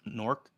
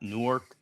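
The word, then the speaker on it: Newark: for everyone out there it's pronounced norc not newor drives me bonkers every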